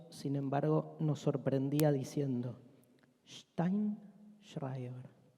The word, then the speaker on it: Sztajnszrajber: Steinschreiber, decía separando las sílabas y explicando siempre. La J es una I y la SZ se pronuncia sh.